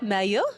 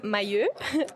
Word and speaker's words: Mailleux: visited so welcome back Dr Mayo from the University of Louisville did I say it properly everyone's laughing at me it's okay your name probably for everyone my name is mayur like I said that